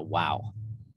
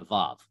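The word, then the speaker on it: וו: a different name so if you're taught hebrew by a christian they're going to call it a wow as in like wow that was awesome sort of thing so if you learn hebrew from a christian they're going to call it a wow if you learn hebrew from a jew they're going to call it a vav so that's just an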